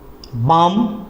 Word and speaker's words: balm: जैसे हमने कहा बाम, BALM, बाम, L silent है।